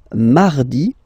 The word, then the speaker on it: mardi: So you can hear that you don't pronounce it that strongly, this R. Huh? Mardi, mardi, okay? You don't need to go too deep like mardi, no, no, no. You don't move your tongue, so it doesn't sound like mardi, no.